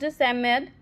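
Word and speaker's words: Psammead: here the 4 children Robert, एंथिया, Cyril and Jain encounter a magical being, the Samad, pronounced Samad, who helps the children purchase an ancient amulet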